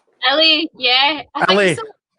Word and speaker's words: ili: Ellie, yeah. I think Ellie. so. To be honest, everyone pronounces it like differently. Like some people say Eli, but it's Ellie.